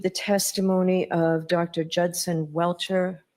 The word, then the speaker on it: Welcher: eliminate to exclude the testimony of Dr Judson welcher welshire how do you pronounce his name Mr Brenan welcher welcher and the commonweal opposition so who's arguing